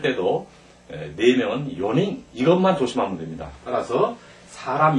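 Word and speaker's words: 四人: 때 요행 했잖아요 마찬가지로 사람을 셀 때도 네명은 요닝 이것만 조심하면 됩니다 따라서 사람 인자를 인자가 세 명 이후에 오는 전부다 닝 하고 발음한다 그다 한 사람 두 사람은 히토리 후다리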